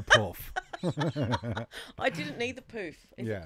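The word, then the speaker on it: pouf: I didn't need the poof. Is it called a poof? Poof? I don't know. Well, it's spelled P-O-U-F. Is it? Poof. Yeah. Ah, it's French. Like French. French for poof.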